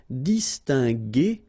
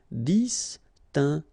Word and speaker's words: distinguer: So that's the reason why we pronounce it distinguer and not distinguer, okay? So U is quite important here, just to give you the sound G, G, G. Distinguer, distinguer.